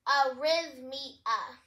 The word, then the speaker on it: arrhythmia: So here are all of the characters, but it's basically just pronounced arrhythmia. Let's break it into our syllables. Riz, as in rhythm, and mia, as in mia, the name.